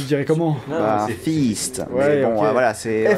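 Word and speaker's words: Feast: C'est pas facile à prononcer en français sans que ça passe pour un truc bah, sexuel. Tu dirais comment? Non, bah, c'est Fist.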